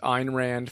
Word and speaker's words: Ayn Rand: it is their own souls end quote that's ein rand from the introduction to the fountainhead so ein ran and that's how you pronounce her name ein uh she's kind of